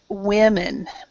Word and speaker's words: women: word right here oh this is women women women women so remember you are a woman but we are women so women is two so women is with